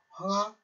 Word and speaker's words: 황하: 그래서 한자라 보면 황하지만 중국 발음으로는 황허라고 하자를 허자로 읽는 글씨이기 때문에 여러분들은 황하 문명 또는 황허강 이렇게 하셔도 상관이 없겠습니다.